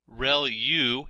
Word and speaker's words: ReLU: There are multiple hidden layers like convolution layer, ReLU is how that is pronounced, and that's the rectified linear unit.